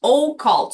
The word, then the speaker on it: occult: Well, a cult actually means o cult.